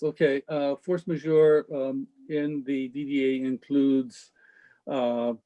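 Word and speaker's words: force majeure: uh i noticed um the force major is that is that how you say it uh yes yes okay uh force major in the dda includes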